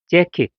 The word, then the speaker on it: 재킷: 들어요 아까 얘기했듯이 그 맨 위에서 밑에 줄 자켓이 아니죠 자켓이 아니죠 젝키 자켓이 아니고 재킷이에요 재킷 그리고 위에서 세 번째도